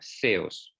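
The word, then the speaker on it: θεός: Theos. Yeah. Theta, epsilon, omicron, sigma. Theos.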